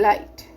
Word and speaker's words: light: so r is silent and light again g is silent here so children big okay